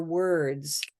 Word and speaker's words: word: so purple shirt words even though the letters are different right this one has a u r this word has ir and word is o r but that should not sound different they sound the same they all are this purple ER sound try it one more